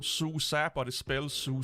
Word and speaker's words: SUSE: of them it's not suicide it's it it's pronounced susa but it spells su c with an e it's german in german e is is pronounced a so yeah from what